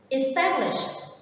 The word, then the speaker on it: establish: Establish. Establish is a verb and the stress is on the second one. Remember that the ending sound sh, established.